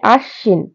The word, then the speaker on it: আশ্বিন: না আশ্বিন এখানে আছে আশ্বিন তো উচ্চারিত হবে আশ্বিন ব্যঞ্জন বর্ণটি দুইবার উচ্চারিত হবে আরেকটা বলি বিদ্যান ত